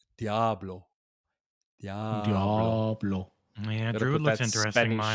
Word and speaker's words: Diablo: And I know I'm saying it wrong. It's apparently Diablo. Or really, it's technically Diablo.